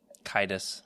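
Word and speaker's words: Caedus: Darth Darth Cadis or uh how do you say it, Jared? Kitus.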